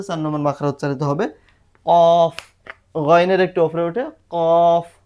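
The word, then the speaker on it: ق: চান পাচ নাম্বার মাখ কোথা থেকে করতে হবে কাফ কাফ কাফ এই জিহবার গোড়া থেকে একটু সামনে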